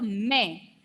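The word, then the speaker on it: mais: M-A-I-S without trema. Okay, when this pronunciation is may.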